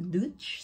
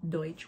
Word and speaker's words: Deutsch: I was a disclaimer I was saying the word Deutsch a Dutch something like that but I meant to say be saying Deutsch which is German so apologies for mispronouncing